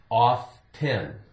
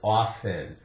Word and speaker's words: often: sometimes sometimes not always sometimes T is silent when it comes after a s or F sometimes right so that's